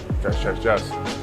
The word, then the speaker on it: Jas: spoke to the owner he's clarified how he pronounced it he is in fact um just just jazz it's named after his wife so yeah ignore what i said about the the german and the dutch side of things it's nothing to do with that he's just pronounced uh jazz so what i've ordered